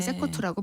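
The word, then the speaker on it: CECOT: 이제 발음이 세코트라고 불리는데 수도 산살바도르 남동쪽으로 약 72km 떨어진 지역에 거대한 이제 이 거의 벌판 같은데 이 시설이 있습니다.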